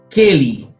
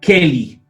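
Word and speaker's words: כְּלִי: Keli, parte con la K, con la Kaf, ¿cierto? Ahí tenemos Keli. Y como parte con la Kaf, entonces esta lleva el punto al centro. ¿Por qué? Porque identifica que es una Begat Kefat.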